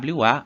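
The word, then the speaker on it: は: O nosso próximo ponto gramatical será a partícula wa, que é escrito com hiragana ha, mas a gente vai pronunciar como wa ou ua, né?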